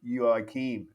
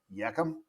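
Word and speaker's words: Joakim: to the swedes and he says my name is yuakim and i said yakum yukum i could not get their names and i could tell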